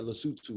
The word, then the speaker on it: Lesotho: It's pronounced Lesotho, so Okay.